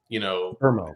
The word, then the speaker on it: Mbeumo: that is that the Premier League put out like a pronunciation video, and I had watched his like 5 times because I was like, "Is he saying Burmo?" And I was like, "He is saying Burmo."